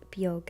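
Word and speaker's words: Beag: For anybody who's new, my cat's names are Bon and Bjug. That's how they're pronounced. And Bon means white in Irish and Bjug means small.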